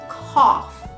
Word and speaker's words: cough: number one this is COFF COFF the GH at the end of the word is silent number two sneeze sneeze